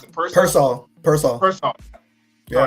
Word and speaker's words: Pearsall: You get Kittle's healthy, and Ricky, I pronounce it Pearsall.